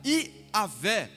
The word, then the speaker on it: Iavé: Eu sou se referia ao nome de Deus, que pode ser soletrado por 4 letras, YHWH, que se pronuncia Iavé, cujo significado é Criador ou aquele que é.